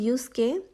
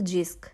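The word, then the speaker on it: Jysk: নাম দেখে নিশ্চয়ই ভাবছেন এটা তো জিস্ক এটাকে কেন আমি ইউস্ক বলছি এটাই আসলে ড্যানিশ ল্যাঙ্গুয়েজের একটা প্রবলেম সেটা হচ্ছে দেখতে যেরকম দেখা যায় আসলে প্রোনাউন্সিয়েশনটা সেরকম হয় না লাইক এখানে ওরা ওয়াই কে উচ্চারণ করে ইউ এর মতো আর জে কে উচ্চারণ করে ওয়াই এর মতো দ্যাটস হোয়াই যখন এটা জে ওয়াই এস কে সেটা হয়ে যায় ইউস্ক তো যাই হোক আমি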